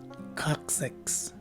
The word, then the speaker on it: coccyx: sound as indicated by the diaeresis symbol over it. The second letter C again takes a K sound, and it's an S sound for the third letter C. And lastly, the letter Y takes a short I sound, and the letter X at the end of the word takes the usual KS sound. So the right way to say this word is coccyx.